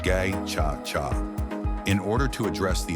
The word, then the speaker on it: Gacaca: In 2001, the government began implementing a participatory justice system, known as Gacaca, pronounced Gay-Cha-Cha, in order to address the enormous backlog of cases.